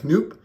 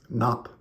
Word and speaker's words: Knoop: Bobby Knopp, who I thought you would have pronounced Knoop or Noop, but learned recently, thanks to my buddy Bass is Beautiful here on YouTube, that it's actually pronounced Knopp.